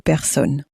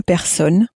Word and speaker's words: personnes: Deux personnes. Again, you'll notice that even though there's two of them, we don't make the sound of an S at the end.